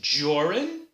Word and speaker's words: Joran: My name is Joran. That's Jor, rhymes with or, and run, which is what you